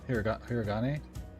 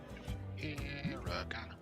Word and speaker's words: hiragana: Hiragana? Hiragane? Gana? Hiragana. Yeah, hiragana. I said it with confidence, no confidence, confidence, and then went and looked it up to make sure I'm saying it right.